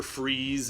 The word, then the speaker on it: Fries: You would have Victor Freeze is Mr. Freeze, and it's spelled Fries, Somehow I can take Edward Nigma more seriously because he's just a ridiculous character as himself.